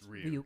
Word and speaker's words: Ryuk: It's Ryuk.